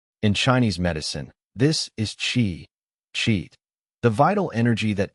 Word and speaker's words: qi: The basic definition chi, pronounced chi, is often translated as vital energy, life force, or simply energy.